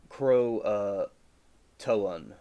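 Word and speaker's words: Croatoan: I think it's pronounced crow uh toan.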